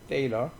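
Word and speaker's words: Thaler: 그래서 이번 강좌에서 세일러 계속 나오는데 이거 갖다가 테일러인데 테일러 세하고 때하고 중간 발음이에요.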